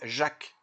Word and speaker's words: Jacques: Et ben non, Jack. Oui, parce qu'en fait en vrai il s'appelle Jacques, et pas Jack Lang.